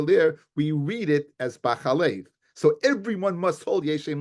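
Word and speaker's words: בחלב: We go after the way it's pronounced. Now it's read b'chelev. It's pronounced. It's b'chalev. It's pronounced b'chalev. If you look at the pasuk, it's written b'chelev. It's pronounced b'chelev. No, b'chalev. It's pronounced b'chalev, in which is milk.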